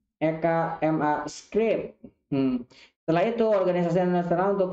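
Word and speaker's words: ECMAScript: Sering diucapkan EKMA Script.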